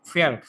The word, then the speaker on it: Verb: Regular ভাইজান, ভার্ব হলে এই জার্মানে ভার্বের উচ্চারণটা কিভাবে? ফেয়ার। ভার্ব, ভার্ব, ফেয়ার।